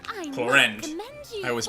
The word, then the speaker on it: Clorinde: Well, Clorand, I Clorinde. must commend you I always for your mispronounce her name.